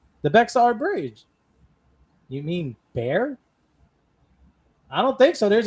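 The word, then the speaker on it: Bexar: You mean bear? I don't think so. There's an X in the middle. Is Is it like It's pronounced bear.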